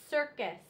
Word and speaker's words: circus: no I after it so when there is an e after the c or a y after the c or an i it normally says the S sound s so pic face and circus so here again you